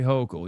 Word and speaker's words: Hochul: Hochul, say Hochul. You're saying it wrong.